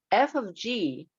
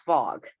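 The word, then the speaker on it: f∘g: so this is uh F of G you pronounce this F of G not fog right I don't want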